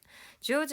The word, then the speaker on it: 上手: 하루타군 조즈 무슨 뜻이었는지 기억나는 사람. 자, 여러분 우선 한자를 보세요. 윗상자의 손수자입니다. 상수죠. 얘를 조즈라고 읽는 거고요.